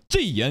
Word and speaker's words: Jiyan: So for the longest time, I was like, Jiyan, Jiyan. And then Mr. Poke's like, Jiyan. And I'm like, oh shit, my bad, it's Jiyan. This is of the greatest importance to me.